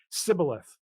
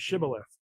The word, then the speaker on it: Shibboleth: So the story of Sibboleth and mhm. Shibboleth, you might remember, um, because one of the tribes had trouble pronouncing the sh sound.